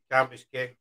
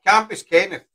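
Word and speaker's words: Cambuskenneth: up, like, to the Bell of the Bray, Campus Kent. Camp, I'll say it right now. Campus Kent. Campus Kent. How do you pronounce it? Campus Kenneth.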